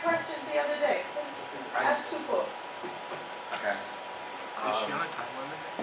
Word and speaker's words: Tupou: Yes, that's the correct pronunciation. Tupou? Oh, yay. Glad. Tupou.